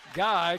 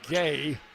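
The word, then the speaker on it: Gueye: Guy commits the foul. That's her third. I think I'm mispronouncing her name. I think it's supposed to be Gay instead of Guy. It's spelled G-U-E-Y-E.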